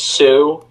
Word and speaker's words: Sioux: sure it's without Sioux Falls hmm it it's pronounced Sioux I'm Sioux Falls like Sioux City Iowa I